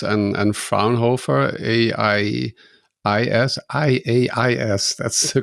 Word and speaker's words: Fraunhofer: You're working with Cert X and Fraunhofer IAIS. That's the correct way to pronounce it.